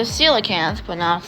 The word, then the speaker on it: coelacanth: The coelacanth, pronounced coelacanth, was known only from fossil remains and was thought to have been extinct for 70 million years.